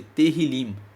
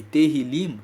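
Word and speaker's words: Tehilim: Salmos no hebraico é chamado de teril se escreve t e h i l i m e terim significa louvores os salmos são uma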